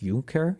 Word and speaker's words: Junker: have to right oh junker is pronounced junker junker is that true because I feel